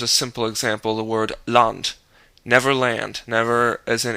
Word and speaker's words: Land: simple example the word land Never Land never as in English the German a is always pronounced as ah in every situation except of course when